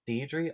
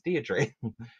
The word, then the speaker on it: Deirdre: I'm not sure if she's pronounced Deidre or Deidre, like depending on like where you live and where you were raised and what Ah, media you were raised on. If you were raised on Coronation Street, you'd probably pronounce her name as Deirdre. But I've heard people in America pronounce it Deirdre.